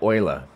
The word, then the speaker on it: Euler: We tend to pronounce everything incorrectly. Okay, Euler.